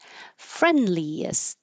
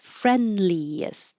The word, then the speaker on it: friendliest: Friendliest. Three syllables. Friendliest. You won't hear a D at all.